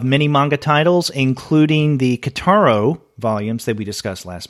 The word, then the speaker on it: Kitaro: And David writes, interesting, by the way, pronunciation is Kitaro. So there you go. You and I had been wondering how to pronounce Kitaro, Kitaro, Kitaro. And according to David, it is Kitaro.